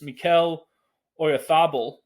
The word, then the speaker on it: Mikel Oyarzabal: But then not long after that, Spain substitute, and Kamala may have to help me with this, Mikel Oyarzabal, I believe is how they go with that pronunciation.